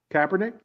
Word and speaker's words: Kaepernick: Kaepernick?